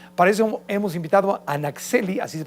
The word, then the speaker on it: Naxhelli: Para eso hemos invitado a Naxeli, así se pronuncia, ¿verdad?